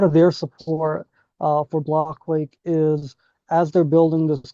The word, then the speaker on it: Blockquake: So, uh, backstory with our name, like it's it's pronounced block quake, blockchain earthquake, right? Uh, that was how we came up with the name, but folks often mispronounce it and they say block quack often, like quack like a duck.